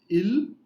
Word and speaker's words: ils: Nous sommes, vous êtes, and il, elle, S is silent, il, elle, sont.